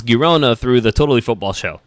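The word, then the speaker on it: Girona: Garcia of gona I I learned how to pronounce gona through the totally football show there's a Spanish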